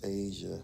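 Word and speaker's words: A'ja: I call her Aja. I think it's Asia. I think it's pronounced Asia.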